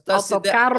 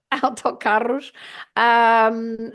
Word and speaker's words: autocarros: Autocarros. So in Lisbon, they pronounce the r with their throat. They say autocarros. And here in central Portugal, where I am, Coimbra district, we say with our tongue, autocarros.